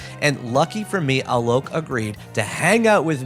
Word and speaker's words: Alok: they them pronouns um tell me a joke alok is something that they have said to remind you how to say their name uh they were born